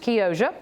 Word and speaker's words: Chioggia: It is actually spelled C-H-I-O-G-G-A, but I was corrected by a young lady at the farmer's market who said it's pronounced Chioggia, and it is a peppermint striped beet.